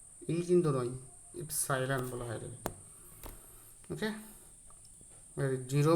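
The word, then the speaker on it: epsilon: এর মান হয় 1/4 এপসাইলন নট। এটার উচ্চারণ কি, এপসাইলন বা ইপসাইলন বলা হয়, উচ্চারণটা কি এপসাই নট, এভাবে উচ্চারণ করবো আমরা। অ্যাকচুয়ালি এরকম হয়, ইপসাইলন হয় শুধু, এই কিন্তু নয়, ইপসাইলন বলা হয় এটাকে।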